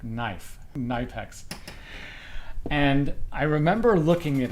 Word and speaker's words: Knipex: videos in the comments, you don't pronounce it Knipex. You pronounce it like Knipex.